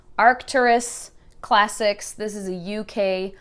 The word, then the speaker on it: Arcturus: And then this Arctura, right? I always say it wrong. Arcturus Classics.